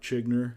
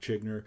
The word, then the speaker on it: Zschiegner: as this show uh my name is chinner don't ever ask me how to pronounce my name my name is chinner um the show is called X trending and